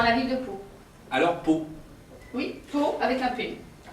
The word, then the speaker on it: Pau: pour aller dans la ville de pau alors peau oui faut avec la paix alors bon comme ça s'écrit pas bay peau et oui alors vous